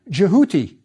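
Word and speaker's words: Djehuty: the cartouch we have the Ibis which in ancient Egypt was pronounced jouti but the Greeks called him Toff and it's stuck in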